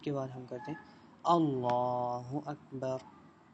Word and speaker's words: اللہ اکبر: بعد ہم کرتے ہیں اللہ اکبر۔ دیکھیں اللہ اکبر، ٹھیک ہے، یہ اس کے تلفظ ہیں۔ کیسے کہا جاتا ہے؟ اللہ اکبر۔ اس کے بعد ہم